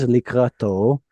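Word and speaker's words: לקראתו: So this the stress is at the end, likrato.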